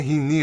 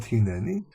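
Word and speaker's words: הנני: Why hini and not hineni? Hini is the correct way of pronouncing. Hineni is something that which was invented in Spain several hundred years ago and has been influencing Hebrew, but the Masoretes actually said it's supposed to be read as hini.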